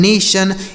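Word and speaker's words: nation: तो टी आई ओ एन अगर किसी भी शब्द के अंत में लिखा रहता है तो उसे आप क्या पढ़ेंगे? सन।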